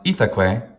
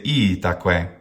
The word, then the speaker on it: itaque: the first syllable, and not pronounce itaque, but to say itaque. Well, we'll see later that the rhythm of itaque is in fact a dactyl if we do it incorrectly by saying itaque. That's wrong.